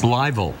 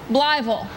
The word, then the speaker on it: Blytheville: Blytheville. Blytheville. Not Blytheville. Blytheville, Arkansas.